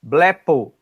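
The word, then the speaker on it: βλέπω: Então, blepo. Esse blé, ele tem que ser assim, meio. Não é blé, né? É blé. Porque esse Lzinho tem que ser um pouquinho alongado, né? Como no al, né?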